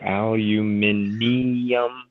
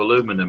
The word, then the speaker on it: aluminium: sybles yeah yeah um it flows nicely but it's got a I in front of the last U aluminium there's no I an extra an extra two syllables for no reason but in in this in the same breath um English people can't understand why you would shorten it down to aluminum it just sounds silly